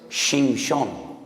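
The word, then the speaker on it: שמשון: Porque Sansón en hebreo es Shimshon. Shimshon. Ya sé que les causa risa, pero es que estoy pronunciando la palabra sol.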